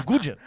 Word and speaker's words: Nguyen: So his name is his name is spelled Nguyen, but it's Gujin.